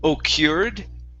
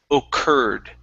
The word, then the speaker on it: occurred: whoops the u r this is actually going to be an e r sound so instead of saying o cured this is occurred occurred occurred okay excellent